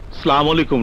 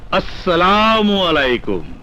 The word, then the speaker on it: আসসালামু আলাইকুম: ওয়ালাইকুম আসসালাম ওয়ারাহমাতুল্লাহি ওয়াবারাকাতুহু আমি সবসময় বলি সালামু আলাইকুম নয় বল আসসালামু আলাইকুম আসসালামু আলাইকুম সবসময় সহিহ উচ্চারণ করবে এখন বল মিটিংয়ের খবর